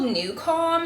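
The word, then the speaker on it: NuCalm: So what it is is like the technology is called new calm and it's spelled like n u c a l m like new nu and then calm like feeling calm.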